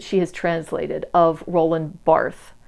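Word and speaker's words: Barthes: has translated of Roland bar it's spelled bars I think it's pronounced bar or B he's French I don't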